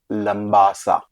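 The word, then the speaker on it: Labasa: है जिसको कहते हैं लंबा सा लंबा सा लंबा सा कहने के लिए लंबा सा है in spelling it इज एल ए बी ए एस उसमें एम नहीं लेकिन लंबा सा उसका उच्चारण है वो आई थक इट्स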